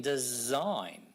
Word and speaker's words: design: And what about the s in a sign, but z in design?